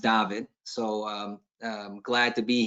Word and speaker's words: David: Unfortunately for everybody, it says David, but it's actually pronounced David.